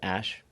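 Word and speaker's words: X Æ A-12: And then the AE is like pronounced Ash.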